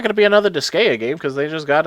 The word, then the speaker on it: Disgaea: Is it Disgaea? Because I call it Disgaea. I want to say it's Disgaea because Gaia is Gaia. Right. But then again, I just always pronounced it Disgaea, so I don't know.